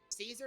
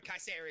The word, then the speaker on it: Caesar: actually both are correct Caesar is how it be pronounced in most other languages but K say is how it might sound in Latin or would like it